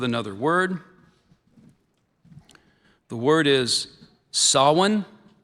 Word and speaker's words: Sawan: The temple held a puja for Lord Shiva every Monday during the month of Sawin. Sin.